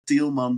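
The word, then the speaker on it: Tielman: And one really important name of those Indonesian guys is the Tilman brothers. You spell it T I E L M A N.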